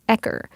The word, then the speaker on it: ECR: When we talked to Yanfei, she referred to Emmett by his initials, ECR, pronounced as Ecker.